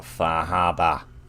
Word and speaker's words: Far Harbor: about the uh about faraba that's how you're supposed to pronounce the title today by the way faraba written in phonetic Bostonian oh so much bigger